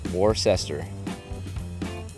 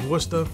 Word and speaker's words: Worcester: I don't know how you guys said it, but the correct pronunciation of where I'm from is Worcester, Massachusetts.